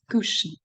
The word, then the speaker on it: cushion: is cushion ah yeah this word is pronounced sorry not in a way it must be according to the rules it's not a it's not I mean a u it's cushion so here you can see